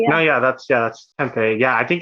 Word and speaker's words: Tempe: I pronounced that correctly. Yeah. No, that's Tempe.